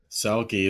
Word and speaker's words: Selke: Selke. It's like selfie, but, you know, more masculine.